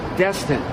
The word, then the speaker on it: Destin: Okay, it's Destin. You know, it's Destin. Destin.